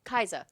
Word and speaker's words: Kai'Sa: But I mean, if you put Syndra and how do you pronounce her name? Kaiza? Kaiza.